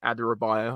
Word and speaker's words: Adarabioyo: Just quickly, we'll talk about Adarabioyo. I think I pronounced it right.